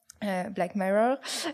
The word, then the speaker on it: Black Mirror: épisode de Black Mirror Black Mirror si on prononce à l'anglaise qui est une série